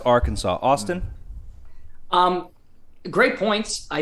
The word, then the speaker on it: Arkansas: mater down in uh our kansas if you wish greg it's pronounced arkansas austin um great points